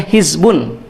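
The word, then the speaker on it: حزب: Yang kedua di dalam Quran pun ada istilahnya hizbun. Hizbun. Hizbun itu biasanya dibacanya hizb ya.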